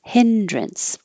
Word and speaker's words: hindrance: maneuver hindrance it looks like drance but we say drints or drunts because it's not stressed hindrance and I spelled it with a t because it really does sound like a t but the t is um invisible and happening just uh accidentally when you go from the end to the S so the word Prince